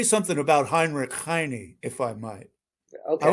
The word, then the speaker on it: Heinrich Heine: And now I know I have an heir of Heinrich Heine with me, or Heinrich Heine, to say it correctly.